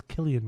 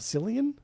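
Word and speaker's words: Cillian: I think it's Killian Murphy. Killian like like the Irish red. It's not Silian. No, it's Killian.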